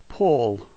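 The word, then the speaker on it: пол: The first is pe, with a P sound. O is familiar to us. The last letter L, notice that tongue. This word is pull.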